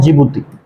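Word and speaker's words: Djibouti: उसको लिख देता हूं जिबती जिबती जिबती डी से स्टार्ट होता है बोलते हैं जिबती डी साइलेंट अगर तुम 1993 के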